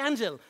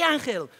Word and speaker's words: Ángel: approach me and say hey Angel oh now I say angel I think I can pronounce my own name now hey anel we need you to